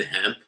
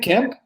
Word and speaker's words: Kemp: Were you gonna call the Georgia governor Brian Hemp? Isn't it Kemp? I said Kemp.